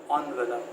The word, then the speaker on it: envelope: Why is it that people pronounce it as envelope? Now kindly remember that in English there can be up to 3 or 4 pronunciations of any word. Envelope is the first pronunciation, envelope is the second one.